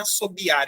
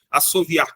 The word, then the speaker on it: assoviar: já vi gente corrigindo não é assobiar é assoviar as duas formas são corretas assoviar com v e assobiar com B tá bom essa daqui